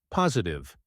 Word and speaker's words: positive: sound clearer when speaking positive posu the T in the middle sounds like a soft D in American English try saying stay positive